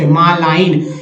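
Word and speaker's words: malign: Next है मालिन, मालाइन, मालाइन, इसमें जी का उच्चारण नहीं हुआ यानी दुष्ट, मालाइन।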